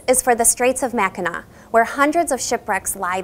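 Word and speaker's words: Mackinac: at the ma Bridge both are spelled with the French sea at the end which sounds like a w and to further confuse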